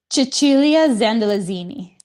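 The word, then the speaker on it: Cecilia Zandalasini: Chichulia Xandelazini. Xandelazini. Broadway. Yeah. It's actually one of my favorite names to pronounce.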